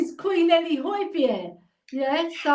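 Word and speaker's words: Højbjerg: name is Queen Ellie hoipier yes pronounce his name you know because he's his name is actually pronounced Hoy Bier right but everybody calls him boyberg don't they because yeah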